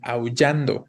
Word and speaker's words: aullando: ¿Cuál es la sílaba tónica en aullando? No es la U, sino es en an, ¿no? Yan específicamente. Es palabra grave, terminada en vocal y también no debe tildarse, ¿no?